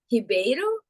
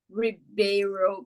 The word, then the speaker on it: Ribeiro: we pronounce it in in Portuguese it would be hibero but I'm used to the Ribeiro pronunciation I'm completely fine